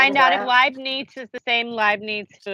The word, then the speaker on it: Leibniz: Leibniz? Is that how you say it? Leibniz? That's very good.